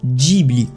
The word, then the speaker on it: Ghibli: ya un problème et le nom ghibli ne sonne pas ghibli il vous le prononcer djiby ce soit bien moins